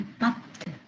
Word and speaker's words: pâtes: Les past les pâtes. Les pes. Les pâtes. On entend. C'est ça. Les pâtes. On entend pas le s.